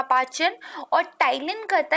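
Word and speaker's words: ptyalin: टाइलिन। तो ये देखिए आप क्या है यहाँ पे इसकी जो स्पेलिंग होती है बेसिकली वो पी से शुरू होती है, पीस में साइलेंट रहता है।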